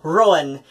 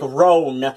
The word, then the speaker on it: Ruadhán: to the fact that I pronounce my name Rowan, and you think you're gonna gaslight me by telling me I pronounce it like Roan, like a seal. I'm like, no, I don't. First off, I audibly say two syllables.